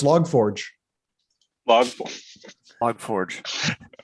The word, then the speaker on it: log4j: thing here you go no no no it's log forge vlog log forge pete has uh why